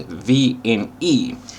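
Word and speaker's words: VNE: exceed speed or the we pronounce it V in E so that's when you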